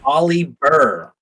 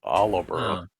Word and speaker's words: Oliver: His name is Olly Burr. It's Oliver.